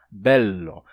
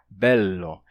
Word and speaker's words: bello: Bello. Você segura o L por mais tempo. Bello.